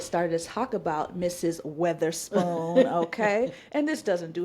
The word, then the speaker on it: Weatherspoon: Not Witherspoon, but Weatherspoon. Okay? Weatherspoon. Pronounce it right. Weatherspoon.